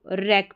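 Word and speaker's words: wreck: फिर यहाँ पर देखिए इसको रैक पढ़ा, ठीक है, डब्ल्यू साइलेंट।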